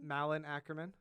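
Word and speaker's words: Malin Akerman: Malin Ackerman. Wait. You're just doing Malin. a bunch of syllables.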